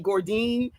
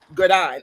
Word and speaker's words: Godine: And then I want to say Gordine, and it's like, no, it's Gordine. I can only say Gordine if I turn my head.